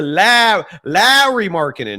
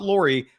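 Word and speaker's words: Lauri Markkanen: tomorrow, in addition to Lowry Markkanen, not Laurie, Mike Lowry from the Bad Boys movies? That's how you pronounce Lowry.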